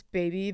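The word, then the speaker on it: BB: Okay, so it's baby, but it's spelled just two letter B's.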